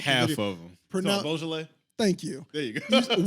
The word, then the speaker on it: Beaujolais: Like listening to and I cannot pronounce the name of that song. You're about to drop half the video. of them. Beaujolais?